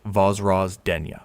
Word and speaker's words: Vozrozhdeniya: Number one, Vozrozhdeniya Island, Aral Sea, pronounced Vozrozhdeniya.